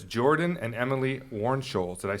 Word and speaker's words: Warnsholz: and I'm gonna read this so that I pronounced it correctly but it's Jordan and Emily Warren Scholes did I say that correctly that's correct guys